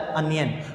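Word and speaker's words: onion: ये देखना है कि ओनियन नहीं इसे कहा जाता, इसे कहा जाता है अनियन। अगर मुझ पे यकीन नहीं है तो आप यूट्यूब करके देख लें, लेकिन प्रॉपर प्रोनाउंसिएशन इसकी अनियन है।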